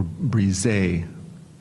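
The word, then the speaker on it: brisé: Okay, your word is brise or brise. Are there any other pronunciations?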